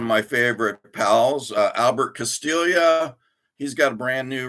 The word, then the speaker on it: Castiglia: For the longest time, when I first got his one of his first releases, I was calling him Albert Castiglia, but it's not Castiglia, it's Castilla. So he's got a new one.